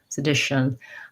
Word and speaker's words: sedition: We almost have no vowel there. We tend to go right from the sh to the n, shun, sedition, because it's short and unstressed.